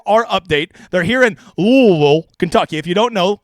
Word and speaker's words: Louisville: update they're here in L Kentucky if you don't know if if you say Louisville with vows you don't know how to say it's a there are no vows in the name L and you need